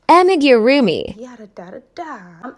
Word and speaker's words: Amigurumi: Yeah, I've always wanted to do, I don't know how to pronounce them, so I'm not going to butcher it, but it's pronounced Amigurumi.